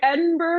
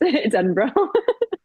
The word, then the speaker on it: Edinburgh: learn to pronounce it? Oh, okay, I was like Edinburgh, and my friend was like, "Oh, don't say that. Don't. It's Edinburgh."